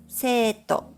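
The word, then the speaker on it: 生徒: For example, the Japanese word for English is pronounced as eigo, and student is pronounced as seito.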